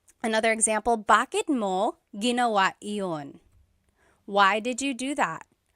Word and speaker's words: iyon: You might hear me saying yun, as if there's no I, and that's commonly how it's pronounced. You might hear people say, ginawa ko iyon dahil mahal kita, but